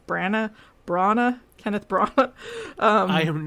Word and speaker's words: Branagh: Branagh. Kenneth Branagh. I am not one to ever correct I don't anyone's know pronunciation.